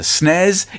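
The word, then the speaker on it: SNES: nests and rip nests it's the snez it's the nez deal with it mic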